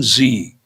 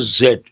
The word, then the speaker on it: Z: The young generation you can say Gen Z or generation zed. Usually Americans don't don't pronounce the word zed as zed. They say z.